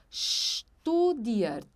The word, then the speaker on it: studiert: Studiert.